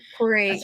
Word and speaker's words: Torre: Torre, is that how you say her name? Yeah, Torre Anchors Group.